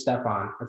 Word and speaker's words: Stefan: By the way, I'll just let you know the pronunciation is Stefan. Stefan.